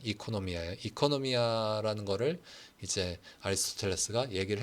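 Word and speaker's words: οἰκονομία: 오이코노미아라고 보통 사람들이 많이 발음을 그걸 읽는데 사실 그리스식으로는 이코노미아예요.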